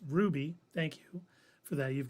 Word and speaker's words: RWBY: And now all the Rooster Teeth stuff is exclusively on Max, except for RWBY, pronounced Ruby.